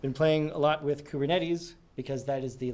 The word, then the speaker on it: Kubernetes: containers across multiple clusters of servers and it's pronounced kubernetes some sort of ship and I guess another